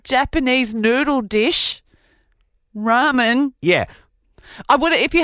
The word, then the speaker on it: ramen: rhymes with these thing the answer was Ramen ra m r a m n yes which is Japanese noodle dish which also Rhymes worth farming the thing the farmer